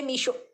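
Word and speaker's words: Meesho: তোমার হচ্ছে বলেছে যে মিশো মিশো থেকে নিয়েছি ওরা মিশোটাকে এমনভাবে মানে উচ্চারণ করে না ওদের প্রোনাউন্সিয়েশনটা এমন হয় মিশর মিশর হয়ে যায় তো ওটাই টাইটেলে বাংলায়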